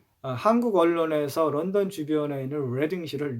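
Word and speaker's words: Reading: 심지어 철자가 같다 하더라도 발음이 다릅니다. 한국 언론에서 런던 주변에 있는 레딩시를 리딩시라고 소개하는 경우가 왕왕 있습니다.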